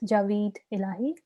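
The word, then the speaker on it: Javed Elahi: his name is pronounced his name is javed allahi i don't know if anybody knows how to correctly pronounce that and um this is pardon me you're pretty close it's javid illahi okay thank you um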